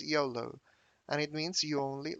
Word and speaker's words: YOLO: um at the dictionary yolo the pronunciation is yolo and it means you